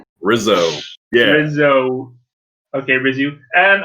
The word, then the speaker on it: Rissoux: did not just say re-zoo which you said i presume it's a french name so i pronounce it the french way rizzo yeah so okay brizzy